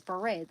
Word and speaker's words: beret: I used to always say beret like the hat is beret the way it is supposed to be pronounced but then after looking